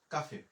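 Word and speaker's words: café: এখানে এল ও তে আমাদের উচ্চারণ হইল লো, সে আ উচ্চারণ হচ্ছে কা, এফ এ উচ্চারণ হচ্ছে ফে, আমাদের উচ্চারণ হলো কাফে।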